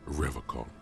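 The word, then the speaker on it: Revachol: He pronounces Revacol with a hard K, unlike other people. I like to pronounce it the hard way, the old way, the Vespertine way.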